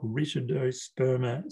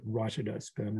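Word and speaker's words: Rytidosperma: typical wallaby grass or richardo sperma species looks like some people pronounce it ritaldo sperm and but a richard is a wrinkle we call seed it needs so it's sperma and the seeds are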